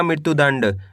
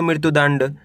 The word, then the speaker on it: मृत्युदंड: तो मिलके बन जाएगा मृत्युदंड पहले आपको मृत्यु पढ़ना है इसके बाद दंड पढ़ना है दोनों मिला दो मृत्युदंड प में ऋ की